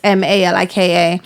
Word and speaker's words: Malika: So they look the same, they sound the same, they're pronunciation just spelled is- the different. Is it And no, spelled it's different? Malika, both of them.